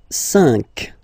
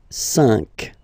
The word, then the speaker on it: cinq: So you get this q u a, but then the sound that you will pronounce is k, okay? Quatre, quatre. All right. And next, cinq, cinq, cinq.